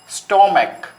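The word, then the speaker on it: stomach: তার কারণ এখানে উচ্চারণের একটা তারতম্য আছে। উচ্চারণের তারতম্য কি? সিএইচ যখন চ হবে তখন হবে ইএস, আর সিএইচ যখন ক এর মতো উচ্চারণ হবে তখন হবে শুধু এস।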